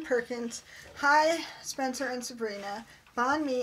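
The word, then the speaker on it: bánh mì: Bon me is pronounced me as in you and me.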